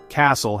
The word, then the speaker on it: castle: Castle has a silent T.